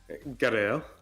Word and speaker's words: Garaele: Garaele.